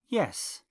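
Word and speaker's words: jes: yes or a no the Esperanto word for yes is yes spelled j e s the word for no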